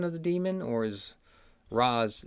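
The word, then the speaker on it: Ra's: we pronounce something so in my mind it's always been al ghul i realize it's raz and occasionally i'll i'll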